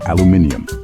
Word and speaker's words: aluminium: speak the same language first up let's talk about the classic word aluminum here in the US that's exactly how we say it it's a common word especially in the kitchen where we use aluminum foil for cooking and storage but hop on over to the UK and you'll hear aluminium yes they add an extra eye just to spice things up it's the